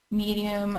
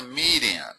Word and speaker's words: median: number in the middle well that's the median it's spelled Med D in like that oh it's not it's not medium I don't know I